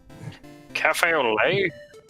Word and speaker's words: café au lait: Cafe au lait? Coffee au lait. Yeah, because you don't pronounce the hard T's in French.